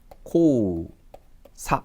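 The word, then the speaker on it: 黄砂: 황사가 있죠 황사 이때 어떻게 읽습니까 코사 이렇게 읽습니다 코사 아 이렇게 사로 발이 나는데 요게 샤나 자로 바나는 경우가 있습니다 자 이때 어떻게습니까 도샤부리 합니다 도샤부리 하면 어떤 뜻이다 수가지 내리 야가 많 내릴 때 야 도샤 부리라고 하죠 엄청 내린다는 뜻입니다 때 샤로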